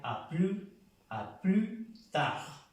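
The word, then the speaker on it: à plus tard: Ya para pronunciar con esta palabra tarde, esta S no se pronuncia a plus tard.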